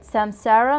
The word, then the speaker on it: samsara: let me make sure I say it right samsara meta yes does samsara mean rebirth yes it